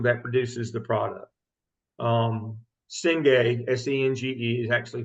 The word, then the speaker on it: Senge: Senge, S-E-N-G-E, is actually pronounced Senge.